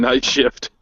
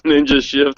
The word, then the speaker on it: Ninja Shift: saying your name wrong I've been saying night shift it's ninja shift I'm sorry it's